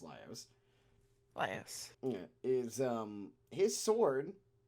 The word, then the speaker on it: Laios: Laios' sword, I actually believe it is pronounced Laios.